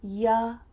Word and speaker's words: you: A common reduction for see you later is see ya later, the word you changes to ya. See ya later. See ya late sounds really natural.